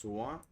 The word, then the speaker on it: soit: So we don't pronounce this hint, but just soit.